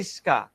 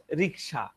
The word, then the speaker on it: রিক্সা: থাকে, যেমন কি রিস্কা, আমরা আলোচনা করি এই রিস্কা, আসলে উচ্চারণটা হচ্ছে রিক্সা।